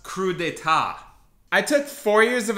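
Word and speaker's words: crudités: that's a tough one everyone gets it wrong it's pronounced crudeta I took four years of Italian it's crudites um this is a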